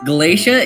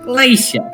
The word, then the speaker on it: Glacia: So, I just wanted to let y'all know, Glacia is just a Brooklyn man pronouncing glacier. Galatia. Glacia.